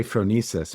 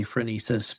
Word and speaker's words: phronesis: So we have, and I'm so excited to hear how you pronounce. I say phronesis, but I know that there's different pronunciations.